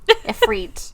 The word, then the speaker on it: Ifrit: Sorry, I pronounce Ilfret wrong all the time. Or Ifrit. Ifrit. I put an L in there for some reason.